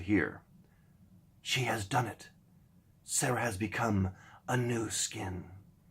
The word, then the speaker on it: Sarai: And I've since talked with her a little bit back and forth, and her name is actually pronounced Sarah, but or can be pronounced Sarai.